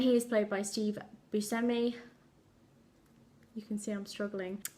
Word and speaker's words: Buscemi: to properly pronounce Steve Buscemi's name. I've always called him Buscemi, and now I'm like, it sounds wrong on my tongue, but I'm told that that's the proper way to pronounce his name, so maybe we'll just